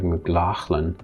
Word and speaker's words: McLaughlin: there's some words like the name mclaughlin here the mclaughlin and mclaughlin the gh could be kia mclaughlin but if you want to get more scottish and more faithful to the original you can pronounce like mclachlan or some people say mclaughlin so this falls under